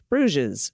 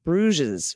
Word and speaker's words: Bruges: one listener bruges is pronounced with the oo sound and a soft g into a z bruges okay so it sounds like bruges or bruges okay if